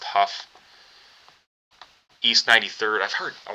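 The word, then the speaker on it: Hough: East Cleveland, um, I think this is pronounced Huff.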